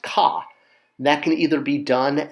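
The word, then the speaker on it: kꜣ: Next up for offerings are oxes, or ox, which is pronounced ka.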